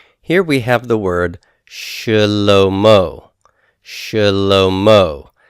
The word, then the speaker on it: Shalom: Shalom Oh Shalom oh here the Shiva is a vocal Shiva and it is going to be pronounced not as a full vowel sound but as a reduced vocal noise and it'll be like an a sound as in when it's vocal maybe the word about whenever you say the